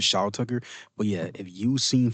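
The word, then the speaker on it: Shou Tucker: I always thought it was Tom. So I think I was saying I was saying his name wrong because I thought it was Tom Tucker. It was Sha Tucker.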